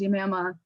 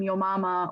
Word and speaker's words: Yamama: It was very difficult for a lot of people to say her name, rightfully so. So people would make the name Yo Mama or Mama or Yo, so everyone would call her Yo.